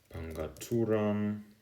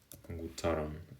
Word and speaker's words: Pangutaran: Um then here we have Tapul, we have Lucus, Siasi, Pandami, Pangaturan, is it panguturan? Panguturan. Pangutaran maybe. Pangutaran is what it is.